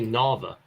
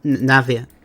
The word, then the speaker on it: Navia: Do you say Nava? Yeah, Navia. Navia.